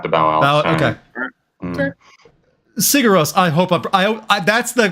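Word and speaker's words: Sigur Rós: Gonzo Lude, Sigur Ros, Siguros, Icelandic band. Yeah. Oh yeah. Okay. Yeah. I'm gonna have to bow out. Okay. Okay. Sigur Ros.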